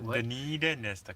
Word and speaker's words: Dunedin: Dunedin is the So correct word. Dunedin is the correct pronunciation.